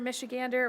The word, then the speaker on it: Michigander: I don't know why, it's a duck, or goose, I mean, but rhymes with gerrymander, so that felt, you know, clandestine. It was like, okay, gerrymander, michigander. We got this.